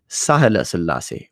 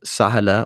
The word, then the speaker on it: Sahela Selassie: And that word, sahala or shahala, depending on the pronunciation of the age, means the forgiveness of the Trinity.